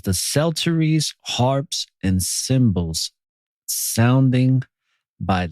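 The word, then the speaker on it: psalteries: be the singers with instruments of music and shelteries that's how it's pronounced salterries now what a sultry is is basically an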